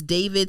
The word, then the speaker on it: D4vd: His name is David, spelled with D.